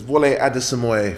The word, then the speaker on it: Wole Adesemoye: How do you pronounce it? So it's Wole Adesemoye.